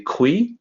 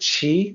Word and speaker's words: qi: that and maybe say "kwee", you know, thinking question. Sounds maybe like that. But no, it actually sounds like chi with a ch. In the pinyin system, the q is always pronounced like ch.